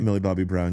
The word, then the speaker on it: Millie Bobby Brown: You know, like like if Bob Millie Bobby Brown, am I saying it right? Millie Bobby Brown.